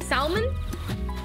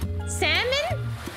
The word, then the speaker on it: salmon: you say it salmon salmon like simon salmon salmon salmon it's pronounced salmon i don't even know how to as opposed to having the l simon simon uh